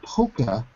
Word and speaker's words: polka: Polka dot. Polka dot. It's spelled pola. Polka dot. But I we always say poker when we're speaking fast for some reason. Oh, so you omit the L.